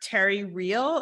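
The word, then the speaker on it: Terry Real: question is you you saw a relationship expert Terry reel is that right and am I pronouncing that correctly okay yes um and you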